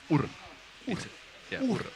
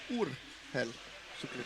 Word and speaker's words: Urheilusukeltajat: And don't put it that high, like just the Urheilusukeltajat. Urheilusukeltajat. Yeah. In Finnish language, we don't really have these Up and down. pronunciations which go up and down. It's all plain.